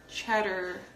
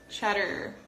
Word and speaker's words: cheddar: of skip it and you just say Chester cheddar cheddar cheddar cheddar cheddar but this kind of cheddar